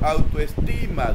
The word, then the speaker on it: autoestima: clasificación por el tipo de acento, autoestima. ¿Dónde lleva el acento? En esta, en ti. Quiere decir que es palabra grave porque tiene el acento en la penúltima sílaba.